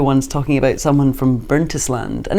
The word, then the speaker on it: Burntisland: on the radio once talking about someone from burntisland and it's pronounced burnt Island and no one told me and everyone was laughing and they just let me go on about bernst land so hopefully there won't be an equivalent tonight